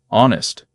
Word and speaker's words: honest: Honest, with no H at the start.